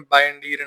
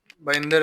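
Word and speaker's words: Bayındır: आई एम not going to call him बाइंडीर नाउ. अब वो बइंदर बइंदर वाली परफॉर्मेंस थी है. उसका एक्चुअल प्रोनाउंसिएशन बइंदर ही है वैसे जस्ट सो यू नो.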